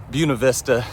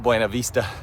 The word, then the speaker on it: Buena Vista: Game plan is by Friday, so 3 days time, be to Buena Vista is how I pronounce it, but you probably pronounce it Buena Vista, Virginia, and it's about 80 miles away.